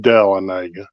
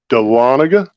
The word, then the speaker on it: Dahlonega: home state of Georgia yeah that is the Dahlonega man Jonathan not delanaga which I have heard it pronounced delanaga but it is actually Dahlonega Georgia which is only about um 40 45